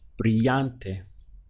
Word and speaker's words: brillante: another word where it's a double L here so you treat that as though it were a Y and the word then becomes in Spanish brillante how to say intolerant